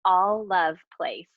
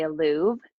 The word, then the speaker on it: Alluv Place: It's all love place. A ll uv place. It looks like a lot of people want to say alve.